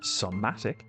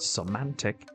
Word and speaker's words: somatic: only realized very recently it's pronounced somatic, not semantic, like I've been pronouncing it for the last number of years.